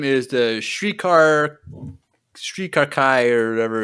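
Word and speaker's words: Shrii Ka Rai: And we learn that their name is the Shrikar Kai, or whatever it's pronounced. Shrikar Kai. It's Shrikarai.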